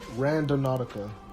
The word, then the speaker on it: Randonautica: of it or um random nautica that's how you pronounce it it's kind of like random and nautical put together which opposed or supposedly